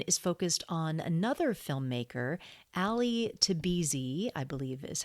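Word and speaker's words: Ali Tabrizi: But this one is focused on another filmmaker, Ali Tabizi, I believe is how you pronounce his name.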